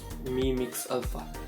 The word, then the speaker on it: Mi Mix Alpha: So properly it's pronounced as Mi Mix Alpha.